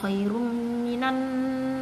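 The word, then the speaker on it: خَيْرٌ مِنَ: Nah, khairum M-nya ini harus dengung nih di sini khairum minan. Ini M di depannya ada M. Jadi agak dilamain gitu loh bacanya ya. Khairum. Nah, ini ada N, depannya ada N. Minan seperti itu, didengungkan ya.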